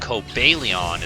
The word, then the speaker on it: Cobalion: Yeah, Cobalion is what I say, and I feel like most people say, because Cobalt, you know? But Cobalion is what the official pronunciation is.